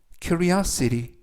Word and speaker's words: curiosity: 뜻이 되겠습니다 이번 표현은 curia city curia city 라고 발음하시면 되겠고요 이때 강세는 가운데 부분에 있는 알파벳 o의 강세가 있습니다 그래서 큐리어 시리라고 발음하시면 되겠고요 끝부분에 있는 알파벳 t는 여름에 의해서 트가 아니라 그래서 큐리어 City라고 발음하시면 좋겠습니다 품사는 명사 뜻은 호기심이라는